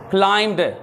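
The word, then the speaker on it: climbed: क्लाइंब्ड बी नहीं pronounce करना।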